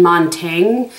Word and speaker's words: Montaigne: shade right here and Montaigne by the way i double-checked that is how you say it and he was a